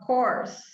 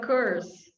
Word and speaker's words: course: okay next one course instead of curse english course sometimes they say curse all right well there